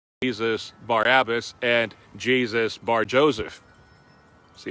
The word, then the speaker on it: Barabbas: And like I mentioned earlier, that really wasn't how they pronounced his name. What the part that they were pronouncing was Bar-Abbas. But the oldest Bible manuscript says that his first name was Jesus. He was Jesus. The Bar means son of Abbas.